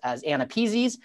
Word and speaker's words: AANAPISI: And so if you have trouble pronouncing it, I usually say, think of it like a person's name. The person's first name is Anna and their last name is Peasy.